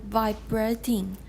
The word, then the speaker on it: vibrating: and vibrating. Vibrating. Please, nobody. Actually, it's vibrating in British, so it's not that bad a mistake. But since we're doing American, stress is on the first syllable.